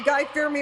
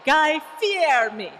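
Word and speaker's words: Guy Fieri: I think you have to pronounce it the Italian way. Guy Fear Me. Guy Fear Me.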